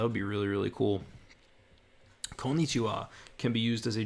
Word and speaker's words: こんにちは: Although the hiragana character for ha has an H, there are times when it is pronounced wa instead. Specifically, it is pronounced like wa when it is being used as a particle.